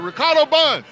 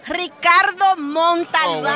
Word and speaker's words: Ricardo Montalban: The Ricardo Bun. Did I say that right? No, Yes. he did not. I didn't say it right. Ricardo Montalban. Ricardo.